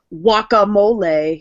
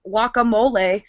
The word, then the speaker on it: guacamole: this isn't funny it's it's pronounced wacamole he's like wouldn't pronounce the G and then insulted Jimmy